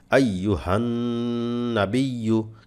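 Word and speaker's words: أيها النبي: তেমন কোন উচ্চারণ নাই আইয়ুহান নাবিয়ু দেখেন একটা গুন্না আছে এই গুন্নাটা অবশ্যই করবেন গুন্নাটা ছেড়ে দেবেন না অবশ্যই যেন এই গুন্নাটা হয় আইয়ুহান নাবিয়ু আইয়ুহান নাবিয়ু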